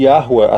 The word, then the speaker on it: Yahuwah: Por isso que a pronúncia tem que ser obrigatoriamente Yahuwah, até porque Ruah vem do verbo existir e ser, e Yah Eu sou, então ele é o eterno.